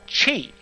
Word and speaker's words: Qi: using a wireless charging standard called cheap which is spelled Qi so I either have to spell it or if I'm writing about it I have to tell people how to pronounce it pronounced Qi so any event the